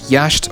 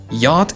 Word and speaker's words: yacht: this word right here yatched yasht or yakt yacht it's silent oh what the [